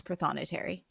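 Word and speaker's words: prothonotary: One does criminal one does ci civil and the pronunciation is pthonitary.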